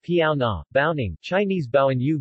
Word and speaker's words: Baonang: the bonan language pronounced piao na baoning chinese bao and yu bayon yu amdu